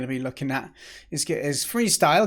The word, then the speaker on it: Freestile: And then the second game we're going to be looking at is Freestile. Good play on words there, where it's freestyle, but the style is spelled like a tile because it's a tile-based game.